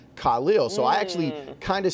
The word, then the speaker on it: Khalil: oh Mack but but forever everyone was just calling him Khalil and then he just he did a video saying no my name is pronounced Khalil so I actually kind